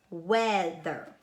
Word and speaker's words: weather: because it's not making usually ei makes it n a long e sound but it's actually making a short sound in this word it's weather okay and then we